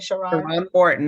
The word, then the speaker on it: Sharrarne Morton: know everything about her shiron Martin am I pronouncing your name correctly shiron Morton that's correct thank you Dr Sandy tell